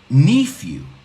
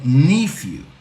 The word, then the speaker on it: nephew: Cuidado, he oído mucha gente pronunciar esta palabra nephew. No sé por qué, he oído nephew. Okay, muchas veces. Many times. It's nephew.